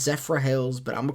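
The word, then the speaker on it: Zephyrhills: because there's a water down down there called Zephorillis. And I know it's pronounced Zephra Hills, but I'm going to call it Zephrillis cuz it it it it if you call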